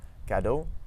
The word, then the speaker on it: cadeau: So for instance, we have the word cadeau and dit voiture. Dit voiture. So we don't actually pronounce the X there.